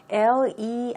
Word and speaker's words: leisure: 자, 우리 레저라는 단어 참 많이 쓰고 있는데 영어에서 미국식으로 발음할 때 L-E-I-S-U-R-E라는 단어는 leisure라는 발음입니다.